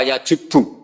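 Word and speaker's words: يجبّ: Itu bacanya bukan yajibu tapi apa? Yajubbu a yaq lah.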